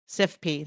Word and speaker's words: CIFP: Um PJM did create what they call SIF, I don't know how you pronounce this acronym, CIFP. Crit- SIFIF? SIFP, there you go.